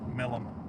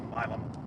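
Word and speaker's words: Milam: I like it why it said Milum. It's actually pronounced Milum which was also including in Bassrop County as well.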